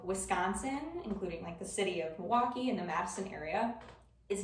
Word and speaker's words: Milwaukee: that word is that you didn't pronounce that L in the first syllable. So rather than saying Milwaukee, as it's written, as it spells, us Wisconsinites typically say Milwaukee.